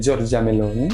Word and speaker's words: Giorgia Meloni: Sa leader, qui est Giorgia Meloni, je le prononce avec l'accent, qui est la présidente et qui a emmené son parti à la victoire.